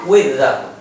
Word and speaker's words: with: Chữ with con có thể đọc là with hoặc là with đều được. Riêng chữ with đọc hai cách đều đúng nhá.